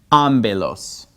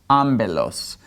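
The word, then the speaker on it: ἄμπελος: it like a B therefore this word is pronounced amilos amilos okay now notice it's e amilos in Greek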